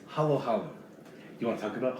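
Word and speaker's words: halo-halo: treat in the philippines called hollow hollow now if you look at it you might think it's it sounds like halo halo because it's spelled h-a-l-o you don't know how to times two vowels in other countries so it's not halo halo it's halo halo you want to talk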